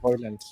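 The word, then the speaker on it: Højlund: Yeah, Hoyland.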